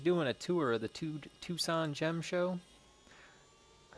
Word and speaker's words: Tucson: Because he was doing a tour of the Tucson Gem Show.